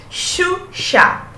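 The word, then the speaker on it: Sciuscià: Quando eu tenho no italiano, a sequência, a sílaba SCI, que pra gente parece só si, né? SCI parece si. Em italiano, a gente vai fazer o som chi.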